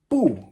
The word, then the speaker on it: 不: 4th tone, bu, means no. It can also be pronounced 2nd tone, bu, if it's in combination with something else.